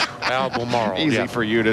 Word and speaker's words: Albemarle: No, Albemarle. Marl? Albemarle.